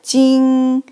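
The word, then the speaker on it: 晶: not kidding three sons so this character pronounced pronounced like Jing it means sparkling yes if you look at a lot of sons I mean something is really like shining they like sparkling so this is Jing the next character so we put here first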